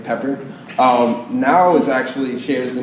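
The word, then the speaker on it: NAO: So this is Pepper, this is Now. N-O-W? N-A-O, but it's pronounced like N-O-W.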